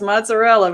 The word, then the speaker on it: mozzarella: um you know i i would mispronounce mozzarella because i say mozzarella she's like no no it's like what no it's mozzarella man here in america we